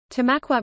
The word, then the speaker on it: Tamaqua: Tamaqua, pronounced T-U-H-M-A-Q-W-A-H, is a borough in eastern Schuylkill County, Pennsylvania, United States.